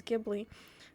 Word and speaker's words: Ghibli: Apparently it's pronounced Ghibli, and I was pronouncing it wrong my whole life. I thought it was Ghibli, but okay.